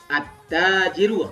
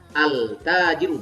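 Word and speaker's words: التاجرُ: At-tajiru. Bacanya at-tajiru bukan al-tajiru, bukan begitu.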